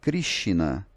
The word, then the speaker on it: Krishna: como por exemplo em Krishna, né? A palavra Krishna, ela não tem esse I se você fosse usar a norma de transliteração. Mas algumas palavras em sânscrito, o ele é pronunciado ri, e aí o Monier